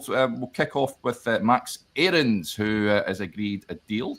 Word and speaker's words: Aarons: It's pronounced Aarons, yes.